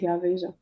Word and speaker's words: Veja: Veja, I don't know how you pronounce it. It's Veja.